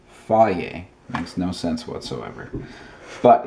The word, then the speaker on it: Fage: How do you think that's pronounced? That's right, Fage.